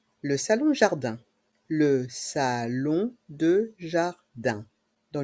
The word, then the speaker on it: jardin: de jardin ici encore dans le mot jardin les lettres I et n font le son 1 jardin l'abri de jardin l'abri